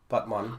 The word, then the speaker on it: Batman: makes sense also there's a place in Turkey called or named Batman but it's pronounced but mana o that sued Warner